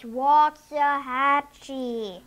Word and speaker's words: Waxahachie: It's Waxahachie.